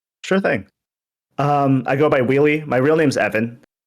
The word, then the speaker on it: WheelyF: I go by Wheely. My real name's Evan. F is silent. You can say it, but I usually self-refer as just Wheely.